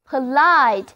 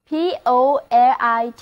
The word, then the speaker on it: polite: 首先来看这个单词 POLITE， POLITE， O 字母发作 I 字母发 I 的本字母音，另外重音是放在第二个音节上的，单词就